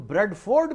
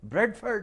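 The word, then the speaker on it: Bradford: और ऑक्सफोर्ड ही नहीं, तुम ब्रेडफोर्ड भी कहते हो, वो भी गलत है। ब्रेडफोर्ड है, ब्रेडफोर्ड नहीं है।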